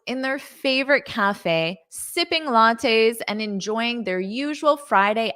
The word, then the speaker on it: latte: saying they were sipping lattes a latte is a drink that has espresso and milk a latte notice that pronunciation latte latte and then in the plural